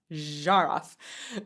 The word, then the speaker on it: Zharoff: Hey-o, that is how you say my last name, guys. Zharoff.